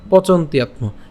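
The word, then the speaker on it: পচন্ত্যাত্ম: ঠিক আছে, পচন্ত ইয়াত্ম, পচন্ত ইয়াত্ম একসাথে উচ্চারণ করলে পচন্ত ইয়াত্ম।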